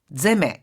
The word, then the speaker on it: 攻め: 시츠몬에다가 세메르에서 제메 이렇게 뒤가 탁하게 발음이 납니다.